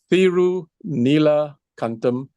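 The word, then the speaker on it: Thiru Neela Kantam: It's Thirunila Kantam.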